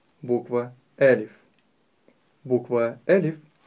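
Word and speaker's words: ألف: Некоторые произносят ее неправильно и делают ударение на втором слоге, произнося «алиф», что является неправильным. Некоторые говорят слишком твердо «алиф», что также неверно. Правильно говорить «элиф».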